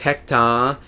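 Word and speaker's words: ヘクター: my channel name and I spell it H e-k-u ta and then a bar so it's hecta because when you extend that ah it kind of makes it kind of replaces it for an R sound so i Savelle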